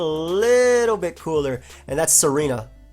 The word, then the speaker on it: Tsareena: you say this I I think it's Serena I I think the t is I could be wrong though all right Serena has the